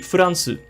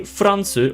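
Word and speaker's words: フランス: France would be Furansu. Furansu. Now try not to say Fransu or something because you may be used to saying France, but in Japanese it's actually a couple of katakana in a row.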